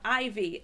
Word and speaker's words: Eivy: a few items here from ivy that's spelled e-i-v-y and now for those